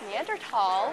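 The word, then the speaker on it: Neanderthal: whatand first question I asked how was it pronounced he said it's neander tall because everybody else has it wrong so you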